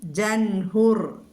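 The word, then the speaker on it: ജഹ്നുർ: പിന്നെ ജൻഹുർ ആ ഉച്ചാരണം ജൻ എന്നാണ് പറയേണ്ടത്. എന്നിട്ടാണ് നമ്മൾ ബ്രഹ്മ എന്ന് ഉച്ചരിക്കുന്ന മാതിരി തന്നെ ഹ അവസാനത്തിലേക്ക് വരിക. ജൻ ജൻഹുർ കേട്ടോ.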